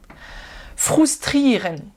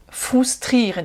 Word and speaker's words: frustrieren: Fotografieren, frustrieren, frustrieren, et non pas frustrer. Là encore, le U en allemand se prononce OU.